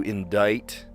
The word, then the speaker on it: indict: Uh to charge, to file, to indict. Such a weird pronunciation that there's a C.